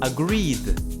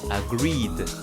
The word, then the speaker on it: agreed: Of course, it's agreed. It is not agreed or agreed it. No, it's agreed.